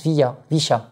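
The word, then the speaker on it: villa: Donc, c'est VI2LA, mais il prononce Vicha.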